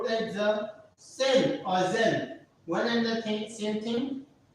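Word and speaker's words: zehn: And after 9, the last number which we have is Zen. Is Zen. Is Zen. Z-E-H-N. Zen. What is Zen? Zen. It is 10, and for 10, we say Zen.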